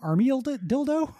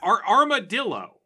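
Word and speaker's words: Armadyllo: Was that guy's name Army Dildo? Armadillo. Oh, okay. It's well, spelled a little funny. It's spelled D-Y-L-L-O, but it's just an animal, Gary.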